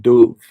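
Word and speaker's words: dubh: sound so if you if you see a BH in Irish and written Irish that is going to make a V sound so like the word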